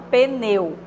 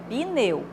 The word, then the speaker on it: pneu: uma vogal por exemplo na palavra pneu Há muitas pessoas falam pneu né só que o correto é pneu freada freada não tem